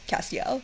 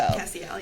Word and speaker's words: Castiel: Although I will say that I only learned how to pronounce Castiel. So Castiel, yeah. It was Castiel in my head.